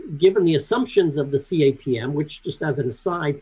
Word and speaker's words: CAPM: So given the assumptions of the CAPM, which just as an aside, surprisingly is how Sharpe himself pronounces it as an initialism rather than the common acronym CAPM.